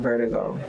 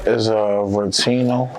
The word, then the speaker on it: Vertino: We already know the definition of vertigo. You tapped into vertigo. Why was this track named that? No, it's Vertino. It's I'm saying it wrong? Yeah, it's called Vertino. Vertino.